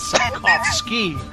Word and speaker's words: Sapkowski: of Destiny yeah Andrzej Sapkowski I've seen some people they pronounce the W with a V so it's sad claps key now Ross so I